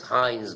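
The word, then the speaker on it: Heinz: are seen in the peripheral blood film is Hines body H's body it's spelled capital h e i n z bodies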